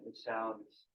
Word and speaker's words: Vesalius: I'm gonna pronounce that right. Vesalius.